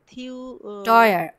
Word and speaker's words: teuer: Aber sie ist teuer অয় উচ্চারণ হবে এ ইউ পাশে teuer.